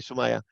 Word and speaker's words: Sumaya: Because in that webinar, you're going to find Sumaya. Did I pronounce that correct? That's correct. Okay, Sumaya.